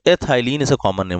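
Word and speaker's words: ethylene: ये हो जाएगा एथ, उसको हम प्रोनाउंस करेंगे आइलिन, ठीक है ना। तो एथाइलिन ऐसा कॉमन नेम हो गया।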